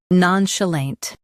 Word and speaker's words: nonchalant: Non, sh, lant, nonchalant. Stress none and keep chalant smooth.